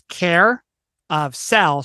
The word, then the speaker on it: Care of Cell: word Carousel but it's care of cell cell being like a prison cell which is why it's